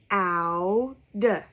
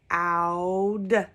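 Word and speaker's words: cloud: Now, O-U also makes the same sound. So let's listen when I pronounce this word. I say k-ow-d, k-ow-d. So I do say ow for those words too.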